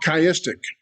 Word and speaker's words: chiastic: There's another form of parallelism that is actually, it is synonymous parallelism, but it's called chiastic. And let me spell that for you because I didn't put it in the notes.